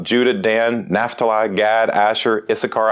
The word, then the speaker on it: Issachar: dan naphtali gad asher issachar i used to pronounce that when i was a kid i sasher uh fun times zebulun